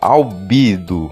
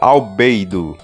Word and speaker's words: Albedo: No idioma original, o nome de Albedo se pronuncia como Albido. Em Força Supremacia Alienígena, em Omniverse, se pronuncia como Albedo.